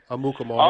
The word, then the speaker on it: Amukamara: Amukamara. yeah. Muka? What? Yeah. How you pronounce that name, AC? Amukamara.